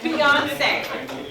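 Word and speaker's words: Beyoncé: Okay, it's spelled B-E-Y. Yes, Beyonce.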